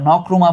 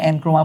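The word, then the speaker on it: Nkrumah: ইন্ডিয়ার, নেহরু ইন্ডিয়ার, এনক্রুমা, এটা নক্রুমা পড়বা, হ্যাঁ, এনক্রুমা পড়বা না তোমরা, যদিও এন লেখা আছে, সাউথ আফ্রিকা মানে আফ্রিকান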